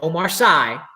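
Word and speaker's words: Omar Sy: book movies your question omar c or you might pronounce it omar sai omrc plays which member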